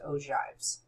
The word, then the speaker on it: ogives: So we have histograms, we have frequency polygons and we have what are called ojives. I know that looks like og but it's pronounced ojives.